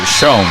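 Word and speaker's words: Schon: And she pronounced shown.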